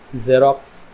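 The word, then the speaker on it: xerox: तरह से निकलती है और एक दूसरी साउंड निकलती है जेरोक्स एजम एग्जांपल ज की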